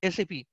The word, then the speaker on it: SAP: It is called SAP and it should be pronounced as SAP only.